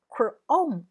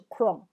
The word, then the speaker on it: Chrome: 好，这个 ch 的话本来是念曲的音，可是这里不念曲，这边念 k chrome，不是 chrome 哦，是 chrome chrome，请记住 chrome。